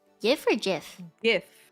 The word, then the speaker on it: GIF: you pronounce yeah for GIF GIF you say gif yeah okay I say give it is it's a g not a j so give me isn't